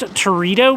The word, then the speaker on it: Teredo: came across was this I believe it's pronounced Torito wood Torito Torito tomato uh